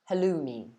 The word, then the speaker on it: halloumi: But in England, we pronounce it halloumi.